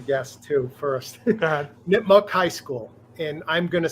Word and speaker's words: Nipmuc: Nipmuc High School, and I'm gonna say Nipmuc High School.